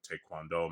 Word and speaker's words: taekwondo: f father who's a taekwondo m taekwondo master. That's the proper pronunciation of taekwondo.